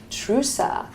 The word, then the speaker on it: Trusa: And I also have Maria Trusa of the Forme Medical Center.